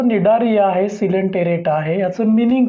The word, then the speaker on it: Cnidaria: Number 2चा जो phylum आहे तो आहे निडारिया. स्पेलिंग सीनी लिहायचं आहे, उच्चार नी करायचं आहे.